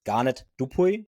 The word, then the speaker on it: Garnet Dupuis: guest today is a very special guest it's garet dupu is it right the pronunciation that's right very good fine yeah and